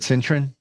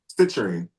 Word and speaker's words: citrine: Would it make sense to carry the clear quartz and is it citroen? Am I saying it right? Citerine.